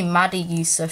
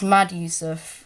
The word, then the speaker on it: Mad Yusuf: People keep calling me Maddie Yusuf for some reason. It's Mad Yusuf, if you might have not known.